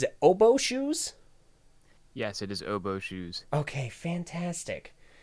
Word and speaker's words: oboeshoes: It is, of course, I actually just realized I never actually asked how you pronounce this. Is it oboeshoes? Yes, it is oboeshoes.